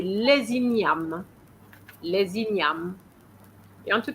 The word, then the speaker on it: les ignames: But because the E doesn't have an accent, so we're going to stop at the M. Inyam. Inyam. And of course, the S is silent as well. And we're going to have a compulsory liaison here.